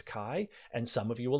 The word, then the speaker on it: chi: at those letters and pronounce them ch, that's not what they are, it's chi, and some of you